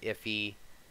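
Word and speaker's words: IIFE: it is um and they pronounce it iffy um the concept self-simple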